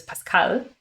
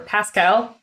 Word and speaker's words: Pascal: So the closest language to it is Pascal, or Pascal, as I heard the American pronunciation for it.